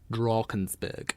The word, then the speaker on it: Drakensberg: It's spelled like Drakensberg, but in South Africa, all A's are sort of pronounced like R. So anything where you see an A, you definitely have to say R. Drakensberg.